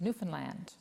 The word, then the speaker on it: Newfoundland: have to say christy is this newfoundland oh i'm sorry that's okay and it rhymes with understand but in any event